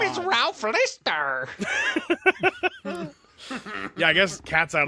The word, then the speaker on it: Lister: My name is Ralph Lister.